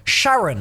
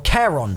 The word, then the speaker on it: Charon: The fourth and final gauntlet we'll be looking at is the Gauntlet of Sharon, or Charon, depending on how you pronounce it.